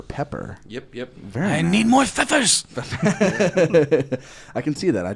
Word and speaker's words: Pfeffer: Is it Pfeffer? Am I saying it right? It's Pfeffer. It's German for pepper.